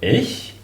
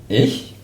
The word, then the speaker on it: ich: All the nouns ending on ich, pronounced really like the personal pronoun me, ich, and all the nouns ending on ich are also masculine.